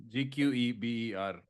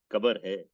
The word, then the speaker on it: Gqeberha: Kabarha. Tell spelling. GQEBERHA. Gqeberha. Hey, we have to invent sounds for this, I think. Bro. Bile. No, The- if you ask, is there any news? Kabar hai.